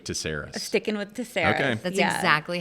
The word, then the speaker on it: Tsairis: before on the podcast have you since started pronouncing your last name did I convince you or you did not but I do like that better don't tell my parents no oh yeah you're sticking with taras sticking with taras that's